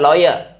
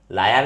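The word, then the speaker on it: lawyer: दूसरा होता है लॉयर। लायर नहीं बोलना है, इसको ध्यान रखना, ये लॉयर होता है, लॉयर।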